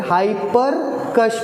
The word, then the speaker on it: Hipparchus: हाइपरकस या फिर हाइपरकश भी बोलते हैं। ठीक है, प्रोनाउंसिएशन थोड़ा वैरी करता है।